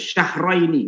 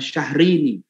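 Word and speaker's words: شهرين: Bacanya yang benar tuh syahraini, bukan syahrini.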